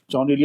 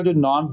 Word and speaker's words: Jaun: शायर या उनकी उनका मजहब के हवाले से तो मैं पहले ये बता दूं के जॉनी हरगिग भी ईसाई नहीं थे और गैर मजहब नहीं थे।